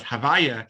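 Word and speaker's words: Havayah: god which i try we will pronounce now as havaya it stands for he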